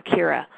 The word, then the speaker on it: Ciara: so I think I have it right now Kira yes so um sorry about that my friends are throwing me a shower and I would love to hear if you get involved in that process Kira if you have any experiences or suggestions for